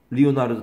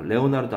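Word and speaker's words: Leonardo: 모나리사가 또 있는 거예요 리오나르도 다빈치가 레오나르도 아니고요 리오넬도 다빈치가 그런게 아니라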